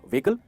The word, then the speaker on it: vehicle: इसमें जो ई है ना वो लॉन्ग वावल है, मतलब हम थोड़ा सा उसको स्ट्रेच करते हैं, व्हीकल वो स्ट्रेच होता है, और एच है ना वो साइलेंट है, तो कहेंगे व्हीकल।